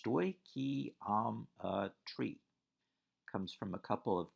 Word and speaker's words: stoichiometry: unit seven stoichiometry phonetically it's stoichiom a tree comes from a couple